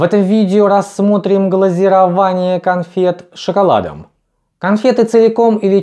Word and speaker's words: глазирование: то чем покрывают глазурью не следует путать название этого процесса в отрасли производства кафельные плитки процесс называется глазурование от слова глазурь Но поскольку мы рассматриваем пищевое производство то важно правильно произносить название процессов глазирование глазировочная машина Итак схема